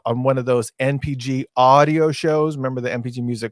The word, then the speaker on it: Ahdio: When I'm saying it like that, it's spelled AHDIO. So it's audio shows.